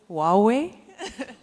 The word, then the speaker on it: Huawei: Going over now to our next stand, which is Huawei or Huawei. I think Huawei is the correct way to pronounce it, but I don't want to preempt.